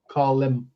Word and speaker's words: Colm: But we're talking about column. So it's called Meanie. Is that Am I pronouncing Colum Colum? Colum or Colm.